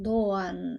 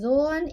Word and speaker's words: Doğan: La "'g' con cuernito", como la llamo yo, que en realidad ellos la llaman, los turcos la llaman la "'g' suave", no se pronuncia y se estira el sonido de la vocal anterior, así que el nombre de él es "Dooan"; así se pronuncia.